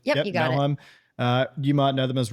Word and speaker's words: Melheim: Melheim, have I been pronouncing that correctly? Melheim? Yep. Or is it, Yep, yep, you got it. Melheim.